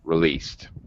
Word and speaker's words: released: chords released don't okay i know it has ed but don't pronounce the that vowel sound in ed so released okay okay um okay